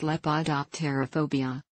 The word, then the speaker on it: Lepidopterophobia: with your daily life lepida Tierra phobia is pronounced Lepidoptera phobia how common is this phobia the exact prevalence